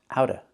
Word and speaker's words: out of: So we hear out of the rain. You can say out of the rain or out of the rain. We don't have to pronounce the V sound in of.